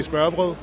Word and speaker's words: smørrebrød: Open sandwiches, aka smørrebrød.